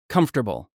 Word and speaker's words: comfortable: Comfortable.